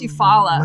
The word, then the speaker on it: Eufaula: Yeah, I do, because I don't know how to pronounce it. I think it's Eufaula.